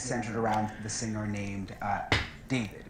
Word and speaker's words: d4vd: And all of it has centered around the singer named David. It's pronounced David, but it's spelled with a 4.